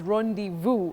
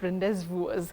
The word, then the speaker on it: rendezvous: different and difficult pronunciations at least you've heard it's Rond Vu and not rendes v um so many surprises